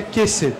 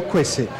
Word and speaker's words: quesse: a gente leria quess a gente leria queesse por Afinal queijo a gente tá acostumado com esse tipo de som mas não é assim que funciona esse som ele é sempre o som que na verdade a gente chama de kW é o hum de fato é o quesse quesse significa pena até